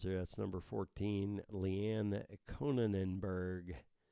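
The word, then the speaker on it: Konijnenberg: number 14 Lee Anne Conan Enberg I know you think I'm mispronouncing that but it's kon IJ n en b ER g conan Enberg weird rice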